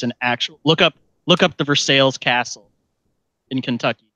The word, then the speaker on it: Versailles: It's an actual look up the Versailles Castle in Kentucky. It's a real thing, I promise. Did you just say Versailles? Yes, it is Versailles. I know it's spelled. It's supposed to be Versailles, but this is Kentucky.